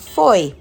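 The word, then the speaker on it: Fowey: The first port is called Foy. It's spelled Foye, but pronounced Foy.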